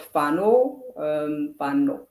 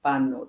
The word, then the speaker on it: Fano: my family, they support Fano. Not the way I say it is almost like a Farangi, a white person. Fano. That's not how you say it. You say Fano.